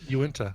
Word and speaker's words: Uinta: No, it's definitely Uinta. Well, at least Uinta.